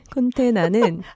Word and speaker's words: 콘테나: 콘테나는 들었었어요. 컨테이너를 우리말식으로 발음한 것으로서 왜 이렇게 플라스틱으로 된 그런 이동 박스 있죠.